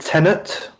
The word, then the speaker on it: Tenet: it and is it tenet attendance yeah it's not tenants it's t-e-n-e-t i believe i think yeah but it is still pronounced tenant i believe you have a certain